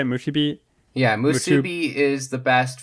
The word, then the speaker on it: Musubi: Musubi?